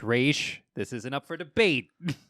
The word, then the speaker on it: Ra's: It's just like, it's Ra's. It's Ra's.